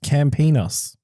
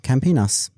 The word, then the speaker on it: Campinas: It is apparently pronounced Campinas. Okay, Campinas. No pun needed. It's a camp.